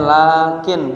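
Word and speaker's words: لكن: Nih di sini bacanya lakin bisukun ujungnya. Jangan dibaca lakinna. Kalau lakinna yang kemarin tuh amil dakhilah kepada mubtada dan khabar yang fungsinya menasabkan isim merupakan khabar. Tapi ini mah lakin pakai sukun bacanya lakin huruf atof nahu ma jaa zaidun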